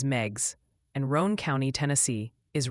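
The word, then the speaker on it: Meigs: Megs County, Tennessee is Megs.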